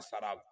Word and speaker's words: शराब: जो "शरब" को हिंदी भाषा में लाए, शराब। हिंदी में इसका उच्चारण शराब जैसा होता है।